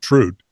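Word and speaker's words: Труд: Well, they pronounced it Trude. Yeah. I pronounce it Trud.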